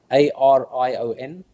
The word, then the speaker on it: Arion: How would you pronounce it in English? For Arion, Arion.